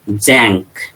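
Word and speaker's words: Tzanck: In electron microscopy, Jank smear, T-Z-A-N-K, Jank, T is silent, Jank smear, it is called Jank.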